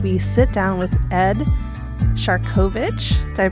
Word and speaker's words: Siarkowicz: Today we are stepping back in time, but not too far as we sit down with Ed Shovich. Did I pronounce that correctly?